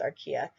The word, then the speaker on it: archaea: I think it's correctly pronounced archaea.